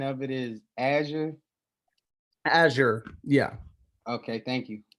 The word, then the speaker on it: Azure: from a certification standpoint hey really quick the pronunciation of it is azure azure yeah okay thank you yeah of course